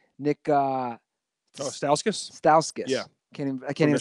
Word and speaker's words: Stauskas: How do you pronounce his last name? Nick. Stauskas.